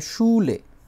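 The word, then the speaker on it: Schule: যেটা হচ্ছে স্কুল, যে কোনো ধরনের স্কুল, এটা বলে শুলে, শুলে।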